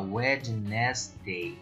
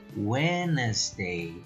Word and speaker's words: Wednesday: On Wednesday, na quarta-feira, on Wednesday, pronúncia você não precisa falar Wednesday, é Wednesday, on Wednesday, Italy opened its borders to tourists from neighboring countries.